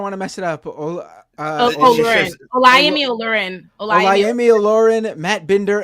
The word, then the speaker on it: Olurin: how do you pronounce Right. your last name? I'm sorry, I don't want to mess it up. Olurin.